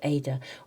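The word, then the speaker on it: Eadha: It's card number 19, and it's spelled E-A-D-H-A, Ida or Ada, but it's white poplar or aspen.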